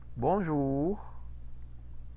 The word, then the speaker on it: bonjour: Ese diptongo U, ¿cómo se pronuncia? Bonjour. Como U. Como una U, efectivamente.